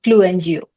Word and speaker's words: Fluenzio: Fluenzio. Fluenzio. Gio, no Sio? No, no, Sio.